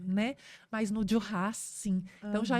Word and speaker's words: Duras: França né que chama dias com ess a pronúncia é com s eh e e e